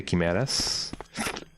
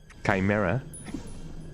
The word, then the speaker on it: chimera: Isn't this the first place in which we can find the chimeas or chimeas? Chimera. How do you pronounce it again?